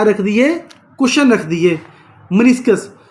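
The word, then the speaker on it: meniscus: छोटे-छोटे कुशन रख दिए ठीक है जिसको हमने मिनी स्काई बोला क्या बोला मिनि स्काई स्पेलिंग क्या है मनि स्काई के वह लिख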